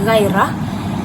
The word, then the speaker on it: ghairah: di dalam perkataannya dan perkataan ghairah yang merupakan satu kata pinjaman daripada bahasa Arab yang dibaca sebagai ghairah dan ia juga merupakan kategori Diong kerana terdapat huruf a di dalam ejaan perkataan ghairah dan juga merupakan konsonan rangkap dengan unsur G yang terdapat di dalam perkataan ghairah tersebut pada rangkap yangikikend perkataan